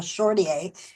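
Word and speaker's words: Chartier: I said, I've never heard of a Shortier, French Canadian. And then finally they showed me how it's spelled, and I went, oh, Châtier. Oh, is that how it's said in French? Yes.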